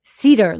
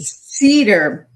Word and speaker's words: Sieder: You did the one My last name is Cedar, like the tree. Cedar. Cedar.